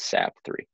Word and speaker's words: Sapthre: so it's kind of like sap tree if you were to really try to pronounce it hard but it kind of flows a little smoother with sap 3.